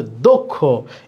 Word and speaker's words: দক্ষ: এটা আমরা বলি দক্ষ, কিন্তু আসলে কি দক্ষ না, এটা হচ্ছে দক্ষ। এই যে ক্ষীয় আছে, ক্ষীয় থাকলে এই দয়ের সাথে যে আছে, এই অয়ের উচ্চারণটা অয়ের মতো না হয়ে ও এর মতো হবে। এই জন্য এখানে দিতে হবে ওকার, দক্ষ।